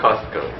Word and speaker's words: Costco: Costco. Pronounce “T”? Cos-t-co. A little bit? So, maybe the “T” is a little bit quieter, but it’s a combination of “cost” and “company”.